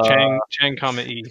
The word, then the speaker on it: Chang'e: It's like Chang, E. Chang'e. 4 probe entered into hibernation mode as the lunar night set in.